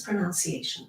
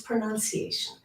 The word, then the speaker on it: pronunciation: help with my pronunciation there's no such word as pronunciation it's pronunciation many people and a lot